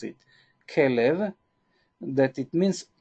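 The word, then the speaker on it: כלב: Hebrew enable the name of a dog is Caleb this is the way that we pronounce it Caleb that it means K live s allowed this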